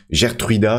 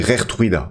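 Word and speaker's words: Geertruida: plusieurs, qui m'ont dit Gertruida, ça se dit Rertruida.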